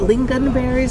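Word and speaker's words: lingonberries: um swedish pancakes with is it lean gun berries is that how you say it yes i have a custom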